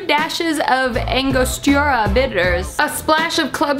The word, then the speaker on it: Angostura: Angostura bitters? I know I'm not saying that right. I don't know how to say it. Angostura? I could Google it. Alexa, how do you say Angostura?